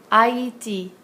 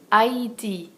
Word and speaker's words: Haïti: It'll go over an I or an E, and it tells us to pronounce a vowel separately from the one before it. Haïti, Noël, haïr. Haïti, Noël, haïr.